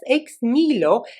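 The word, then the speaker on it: Ex Nihilo: comes from a brand called x nylo here in the united states but i think if we were to go to france we would be pronouncing this ex nilo and this is actually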